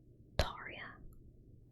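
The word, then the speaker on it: Altaria: Wait, it's pronounced Alaria. I've always pronounced Alaria. Okay, fine. Alaria, humming Pokemon type dragon flying.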